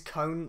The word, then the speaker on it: Cohn: I don't know how you say it, I think it's cone, like ice cream cone.